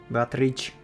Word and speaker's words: Beatrice: Beatrice. It's apparently Italian pronunciation or something.